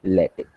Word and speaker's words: LaTeX: So for that purpose, you will be using the LaTeX. Second thing regarding the pronunciation, so the word is written, it's like latex, but it is pronounced as latex. Okay, it's a tech, it's not a text.